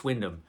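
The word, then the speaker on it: Wyndham: winter of Windom Windom now I know that Windom is actually the proper way to pronounce this guy's name John Windam which is what I thought it was Roger I thought it was it's Windam so John windham's the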